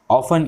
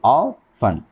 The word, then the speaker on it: often: The correct pronunciation reading of unfamiliar bits word ऑफन इज़ ऑफन, यानी इसका जो सही प्रोनाउंसिएशन है वो है ऑफन, यानी OFTEN जो वर्ड है तो उसका सही प्रोनाउंसिएशन ऑफन है।